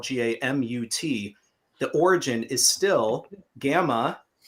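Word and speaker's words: Gammaut: And don't nobody nobody worry about trying to pronounce it with a European accent. Gamut. Gamut.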